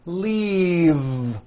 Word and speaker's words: leave: a lime and leave this last word leave is very different from the word leaf like from a tree which has an unvoiced F the word is leave with a voiced v keep the voicing going throughout the whole word and voice the V leave like that if you